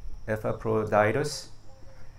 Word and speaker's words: Epaphroditus: That's how you pronounce it. Epaphroditus.